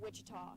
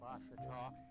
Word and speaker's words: Ouachita: Back in Texas, everybody pronounces it Wichita, but really, it's Ouachita. Ouachita. How would you pronounce it? Ouachita. Washita.